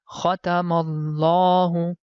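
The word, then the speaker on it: خَتَمَ اللَّهُ: But as you know, the right pronunciation is that we have to stretch the La sound. So the reason behind it that there is hidden small alif. So because of hidden small alif, we have to stretch the La sound for 2 seconds.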